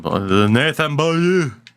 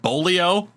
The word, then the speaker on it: Beaulieu: I say Nathan Beaulieu. You can say it like Americans used to say it. Nathan Beaulieu. Actually, I heard Bolio quite a lot in his draft year back in the day.